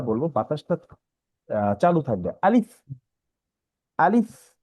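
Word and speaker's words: ألف: বাতাসটা চালু থাকবে, আলিফ, আলিফ। আবার মুখে হাসি ভাব বলতে মুখটা ছড়ানো থাকবে আর কি, আলিফ, আলিফ।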